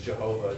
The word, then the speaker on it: Jehovah: In fact, the name of the Hebrew God, Yod-He-Vav-He, pronounced Adonai in traditional circles, but most likely pronounced as Yahweh, also sometimes comes out as Jehovah, depending on who's doing the telling.